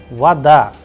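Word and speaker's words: вода: o is coming like ah and i am pronouncing like vada all right and in case of we know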